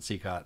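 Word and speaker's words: Cicotte: it for the record I pronounce it secot please just everyone use cot so we know that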